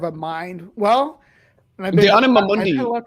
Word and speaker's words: anima mundi: I should say it as it's supposed to be pronounced anima mundi from RuneScape. It's Latin for soul of the world.